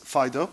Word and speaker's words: FD.io: I codenamed f diode also pronounces Fido a faithful dog and talk about the